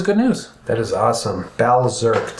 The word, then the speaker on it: Balzerk: Balzerk, to pronounce it more precisely. So it's going to be like Bally Berserk.